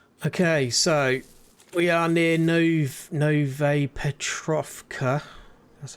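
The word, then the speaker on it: Novaya Petrovka: Okay, so we are near Nove Petrovka.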